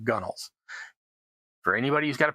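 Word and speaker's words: gunwales: It's pronounced gunnels. But it's spelled gun whales. I have no idea what the word means or why they pronounce it the shorthand version, but it's called gunnels.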